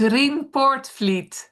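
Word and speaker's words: Rien Poortvliet: It's ring portfleet.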